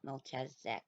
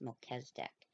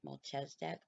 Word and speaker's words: Melchizedek: i very rudely said it's not melchazek it's melchizedek and i wasn't trying to be snarky at anybody a lot of people are pronouncing it mulches deck you can pronounce it